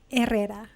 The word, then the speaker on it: Herrera: with the fabulous paula herrera and i know before we talked about but the pronunciation of your last name can you please say it in the least white way herrera there you go nice